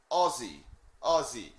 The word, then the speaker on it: Aussie: repeat this aussie aussie so you pronounce it like o zed-zed-y ozzy and warwick said i